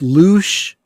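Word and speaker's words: louche: that's any thoughts uh apparently it's pronounced loose and it means disreputable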